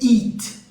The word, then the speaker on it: eat: O comer é eat, fechado, eat. E o outro é um aberto, é como se fosse um i aberto, que é o it.